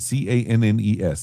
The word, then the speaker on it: Cannes: I didn't say in the Cannes, c a n n e s. It's pronounced Cannes.